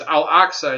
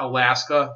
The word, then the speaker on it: Al-Aqsa: But the other issue with him saying that is that he mispronounced it. It's Al-Aqsa. It's not Alaska. There's no Alaska mosque.